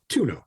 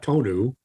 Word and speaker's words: tonneau: or something like that tuno not tonu it's the definition is